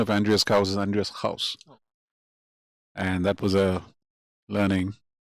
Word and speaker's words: Andreas Gauss: playing in the Musa was that the real pronunciation of Andreas Gauss is Andreas Gauss.